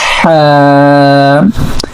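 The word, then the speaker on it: حاء: So actually in the Ha we are using our middle part of throat. So we are pronouncing from here this letter Ha.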